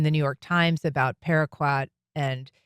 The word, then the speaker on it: paraquat: I mean people have known for decades that paraquat is and I think I'm saying that right.